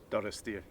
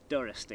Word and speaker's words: Durisdeer: So Ross, how do you pronounce Durisdeer? Durisdeer. Durisdeer, Yeah.